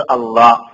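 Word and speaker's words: الله: അള്ളാഹ്, ഇസ്മുൽ ജലാല, മഹത്വത്തിന്റെ പേര്. അതിനേക്കാൾ മഹത്വമുള്ള ഒരു പേരിനെ അള്ളാഹ് പറയാനില്ല. അള്ളാഹ്, ആ ഉച്ചാരണം അവിടെ തന്നെ ഉള്ളു.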